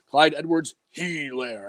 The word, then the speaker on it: Edwards-Helaire: He was like, Clyde Edwards-Helaire.